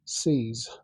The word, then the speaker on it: SEAS: And these are C's speakers. That's spelled SEAS, a Norwegian manufacturer.